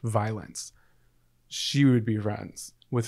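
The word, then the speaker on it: Vylanc: this girl commented, I saw a girl on TikTok whose name was V-Y-L-A-N-C, pronounced violence.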